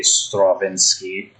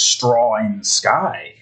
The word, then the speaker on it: Straczynski: Because I feel like his name is supposed to be Straczynski, but the way it's spelt, I can only read it as Straw in the Sky.